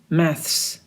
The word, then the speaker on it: maths: we can say maths you can bite your tongue and then pronounce it maths medicine ecomics economics law